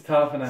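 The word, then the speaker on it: Tapine: Raymond for Taylor Mariner, Joey Tapane, whatever you want to... Tapane. No, hang on. Big Teddy. It's Tapane. Send it again. Tapane. He did the syllable enunciation for you.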